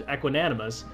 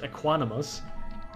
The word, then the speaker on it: equanimous: say what I would have said was equinus apparently it's just aquinus that doesn't sound I